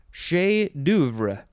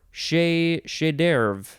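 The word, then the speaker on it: chef-d'œuvre: Okay, next we have, could pronounce this a couple ways, chef d'oeuvre or chef d'oeuvre. Chef d'oeuvre? That sounds a little bit more American. Chef d'oeuvre seems more authentically French.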